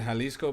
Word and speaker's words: Jalisco: Leather said Jalisco, perfectly pronounced.